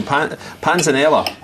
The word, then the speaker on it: panzanella: So panzanella is the correct pronunciation for it, isn't it?